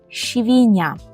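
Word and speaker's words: świnia: ми скажемо це по-польску правильно якщо ви сказали швіня швіня Якщо помилилися то старайтесь зі мною повторити правильну вимову швіня наступне слово - це мурашка попольску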